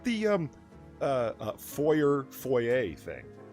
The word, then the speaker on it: foyer: Is it a foyer or foyer? It's foyer. I've never heard foyer. What the is a foyer? It's that's it's a French word. You're not supposed to pronounce the e r.